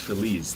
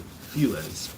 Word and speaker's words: Feliz: america cinematech the los feliz iii or as americans save those those those i don't know what you call americans but it's a spanish word it's feliz not feliz but of course that's